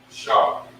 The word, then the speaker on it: Asher: So this is this is how you pronounce it. Ra-A-Ban. Okay. This last fella, A-Shar. A-Shar. That's how you pronounce it. Ra-Aban and A-Shar.